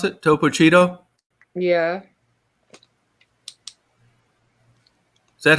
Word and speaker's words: Topo Chino: Is that how you pronounce it? Topo Cheeto? Yeah, Is that how you pronounce it? yeah, Topo Cheeto Topo Chino. or Chico? Chico or Cheeto? That. Oh, Topo Chino.